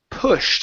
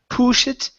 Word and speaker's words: pushed: is going to be pushed instead of push it okay it's p pushed pushed good good so